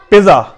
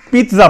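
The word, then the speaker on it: pizza: پیزا, پیزا نہیں پڑھنا ہم نے, پیتزا پڑھنا ہے, پیتزا, پیتزا, آج ہمارا پیتزا کا پروگرام ہے.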